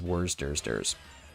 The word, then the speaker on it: Worcestershire: I'm doing dishes um Worchester Shire sauce the easiest way to pronounce worcestershire is worse dursters where's dursters because everybody knows what you're talking about and you get to